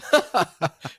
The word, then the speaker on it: Jumba: And if Nicewig's ever listening to, it's not pronounced like Zumba. Like he pronounced my name Jumba. It's Jumba? Jumba.